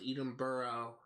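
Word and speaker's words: Edinburgh: I think Edenberg is actually pronounced Eden Burrow uh could be wrong though but I think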